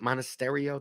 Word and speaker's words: Monasterio: could do it Burger Solaire montessorio Mana modest monasterio that's how you pronounce it Contreras I mean if you're still